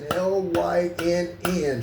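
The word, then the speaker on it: Lynne: L-Y-N-N. She spells her name L-Y-N-N-E, but Lynn is pronounced Lynn.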